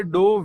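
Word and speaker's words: ∂: Okay, इसको डो भी कहते हैं, ये जो लिखा हुआ है यहाँ पे इसको डेल्टा भी कहते हैं, बट आजकल के हिसाब से इसको डो हम ज्यादा लोग इसको कहते हैं, तो इसको आप भी इसका प्रोनाउंसिएशन डो करें।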